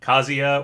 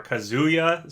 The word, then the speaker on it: Kazuya: i hear people say it with a long oo like banjo and kazuya i don't think it really makes that much of a difference anyway it's just sort of where you emphasize that whether you say it quick or not kazia or kazuya so whatever regardless getting kazian